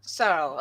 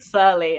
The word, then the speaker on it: Searle: Say your last name for me one more time. So. Searle. Okay. That good old English yeah. Okay. I totally said it wrong the other day. Yeah, you said Surly.